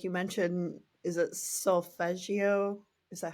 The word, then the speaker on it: solfeggio: And I'm just thinking of like, um, some of the tools like you mentioned, is it sulfeggio? Is that how you say it? solfeggio.